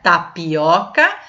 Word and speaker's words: tapioca: tivesse um acento agudo oca é a sílaba tônica então é uma paroxítona a a penúltima é mais forte né ó o última sílaba oxítona penúltima sílaba paroxítona antepenúltima proparoxítona então é tapioca é uma paroxítona né